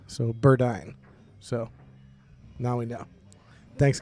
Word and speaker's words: Burdine: Jason's wife it's uh Burdine like uh pronounced like dying so Burdine so now we know